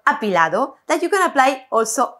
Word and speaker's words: apilado: to show you a beautiful move it's called apilado that you can apply also at the milongas or for performances we pronounce it again apilado a lado and it means leaning but before